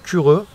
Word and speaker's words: Kiro: Donc ça, c'est ma poêle à frire Cureux. Ça s'écrit Kiro, et je crois que dans leur langue, ça se prononce Cureux.